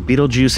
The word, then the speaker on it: Betelgeuse: used by the way the pronunciation of Beetlejuice in English corresponds to the name of one of the main characters of the movie Beetlejuice this as well as